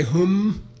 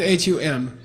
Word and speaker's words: Hung: Okay, it's, by the way, some people say hum, it's not hum. It's not H-U-M, that's a mispronunciation. H-U-N-G, hum.